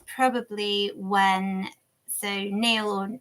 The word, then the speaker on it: Niall: it's probably when so Neil or or Nial, I'm never sure actually on this pronunciation. In my head it was Neil. It's n i a l l. Yeah, and Niall depending on where you're from. I think the Irish call him Niall.